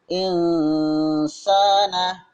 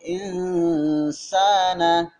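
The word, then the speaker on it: الْإِنْسَانَ: Sehingga dibaca insana, bukan in, tapi insana, disamarkan ke huruf sin.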